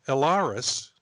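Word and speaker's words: El'raris: dressed then we have alaris i guess that's how it's pronounced yeah it's it it's e-l apostrophe r-a-r-i-s so it's a book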